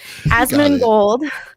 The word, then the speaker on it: Asmongold: Asmongold.